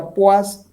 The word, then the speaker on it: poise: Se escribe poise, se pronuncia poise y en el sistema internacional CGS es PO, una mayúscula y una minúscula.